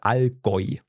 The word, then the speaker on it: Allgäu: Genau, and actually the area where I come from in Germany is the Allgäu. So it has to, U is oi. Oi, okay, Allgäu.